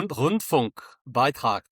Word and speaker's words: Rundfunkbeitrag: this, Martin, you can correct me on my pronunciation, the Rundfunkbeitrag. Is that okay? Rundfunkbeitrag.